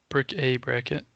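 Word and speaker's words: Bric-a-Bracket: c dash a dash bracket oh brick uh brick a bracket yeah it's uh it's kind of a weird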